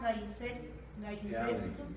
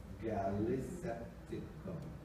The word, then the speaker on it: gallisepticum: Mycoplasma gallisepticum. In Spanish, it's A. In English, it's an L. Gallisepticum.